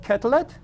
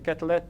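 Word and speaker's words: Quetelet: And one of the things he invented was the body mass index which is originally called the kettle index or kettle I guess I think it's French pronunciation.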